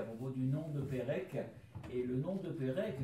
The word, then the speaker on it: Perec: Parce que oui, ça, c'est Pérec, c'est le C polonais avec un accent sur le C, donc il se prononce ce. Mais transcrit en français, ça donne Pérec, et il y a en Bretagne des Saint-Pérec.